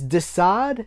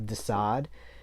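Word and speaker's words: Desaad: and then you have dasad is dasad a riff on the marquis de sade spelled differently but it's pronounced the same um this is the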